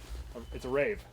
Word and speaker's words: Rave: This is a Rave. It's a rave. It's a Rave. It's a rave. The guys in What is Finland Rave? said that it's actually called a Rave, and that's how you pronounce it.